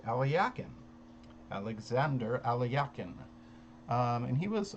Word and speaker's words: Alekhine: The person whom we call Alexander Alekhine, I've heard from a couple Russian sources who say his name was actually pronounced Alyakin, Alexander Alyakin.